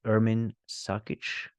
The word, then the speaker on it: Ermin Sakic: Our next speaker is Ermin Sakic. Am I saying that correctly? You are pronouncing it correctly, Bjorn.